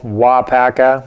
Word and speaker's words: WAAAGH! Paca: he did it and there's a tournament called W Paka which is uh forever being misspelled and mispronounced across the land but that is the